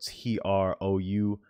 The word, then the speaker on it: trough: amplitude is called the trough so that's spelled t-r-o-u-g-h pronounced trough right so you have this oscillating peak